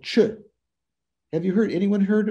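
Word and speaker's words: Chöd: Nadine, have you heard of Chö? C-H-O-D, you don't say it Chod. It's the final D in Tibetan makes it a shortened vowel, so Ch.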